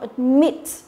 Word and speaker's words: admit: Admit. Các bạn thấy không? Admit. Đấy, không đọc là admit nhá.